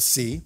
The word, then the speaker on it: Seay: So our last inductee for the night is the Honorable Bev Seay, the Y is silent, the Southeast Regional Director of the National Security Innovation Network.